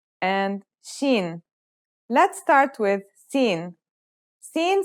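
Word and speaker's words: سين: Let's start with seen. Scene sounds just like the English s.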